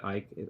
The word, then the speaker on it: Icke: It's David Icke. Icke is spelled I-C-K-E.